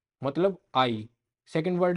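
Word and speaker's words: hay: तो आई, आई इसको आई प्रोनाउंस करेंगे क्योंकि एच तो साइलेंट रहता है और वाई लास्ट में आ रखे, तो आई, आई इसका मतलब होता है देयर इज।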